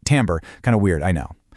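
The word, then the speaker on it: timbre: Well, the scientific word for this fingerprint is timber, and it's pronounced tambber.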